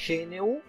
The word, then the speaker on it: GNU: Este GNU se pronuncia GNU, inclusive el símbolo es la vaca africana que nosotros conocemos como GNU. El problema es que en inglés no existe la ñ, entonces por eso lo